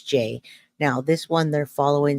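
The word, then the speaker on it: Jai: quick and Jackie Riley I pronounce my name j j a y so it's spelled j AI but it's j now this one they're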